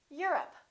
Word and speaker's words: Europe: say I'm from Europe this is stressed the O once again is reduced repeat Europe how about this one